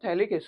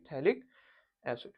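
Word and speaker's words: phthalic: बोलेंगे potassium salt of थैलिक्स इड अब spelling थोड़ी सी गलत है भाई potassium salt of थैलिक्स इड P eighty H ए एल आई सी थैलिक्स बच्चों याद रखना मेजर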